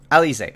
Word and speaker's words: Alizé: How do you pronounce it? Tumai? Elise. Alizé, okay.